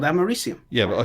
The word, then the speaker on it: americium: said it wrong well that's what it's called it's called americium yeah but i said